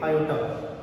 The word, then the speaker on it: iota: ठीक है, तो इसे I में प्रोनाउंस करोगे iota.